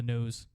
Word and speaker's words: Kneaux: sure to check out the No Network. That's KNEAUX, the only way to spell it.